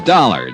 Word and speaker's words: Dollar: It's dollar. Johnny dollar. Dollar, huh? Yeah. It rhymes with color.